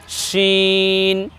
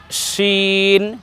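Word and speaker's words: شين: এটা হয়ে যাবে শিন উচ্চারণটা একটু বাতাস মোটা হবে বেশি বাতাসের সাথে উচ্চারণ করতে হবে আগের বর্ণ ছিল একটু চিকন আর পরের বর্ণ উচ্চারণে একটু বাতাস বেশি বের করে উচ্চারণ করতে হবে শিন শিন প্রিয় দর্শক আমরা যখন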